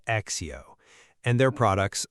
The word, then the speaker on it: ACCEO: So, we'll be talking about Accio, which is spelled a c c e o, but pronounced Accio.